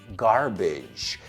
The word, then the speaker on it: garbage: So el age muchas veces como terminación suena igual que la terminación de la palabra bridge.